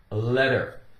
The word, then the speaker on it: letter: It's very common for a T in the center of a word or inside a word to be pronounced with more of a D sound. D, the letter D as in dog. That's the case here. It isn't always that way, but frequently.